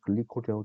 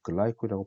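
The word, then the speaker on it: glycol: 원리적으로 현재 사용되고 있는 정지성들은 크게 두 종류, 폴리실록세인과 폴리에틸렌 글라이콜, 우리 책에는 글리콜이라고 되어 있는데 영어 발음으로는 글라이콜이라고 발음하는 게 맞습니다.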